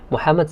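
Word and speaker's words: محمد: where are you from muhammad mean that's how they say it in the arabic language muhammad says i'm from japan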